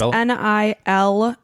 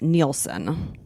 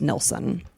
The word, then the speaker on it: Nilsen: One of the people described it as Nielsen, but it's predominantly pronounced Nilsen.